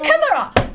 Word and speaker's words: chimera: Cambridge YouTube to make sure I wouldn't get teased, and it's chimera.